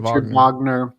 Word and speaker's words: Wagner: Wagner, yeah, that's how they say it. Wagner.